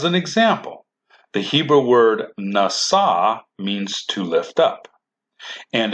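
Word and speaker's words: נשא: But this word is also spelled with a shin, but the shin is still pronounced with an s, nasa.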